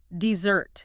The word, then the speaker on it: dessert: The sweet food, the sugar high, the stress is on the second syllable. Dessert. Hear that? Heavy on the zert.